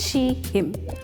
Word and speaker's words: Sheem: Good day everyone, my name is and the name of our app is Sheem, which is pronounced she, him.